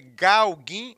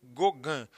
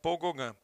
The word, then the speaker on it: Gauguin: Aí a gente parte para o nosso penúltimo artista, que é um cara chamado Paul, se escreve Gauguin, mas se lê Gauguin, certo? Paul Gauguin.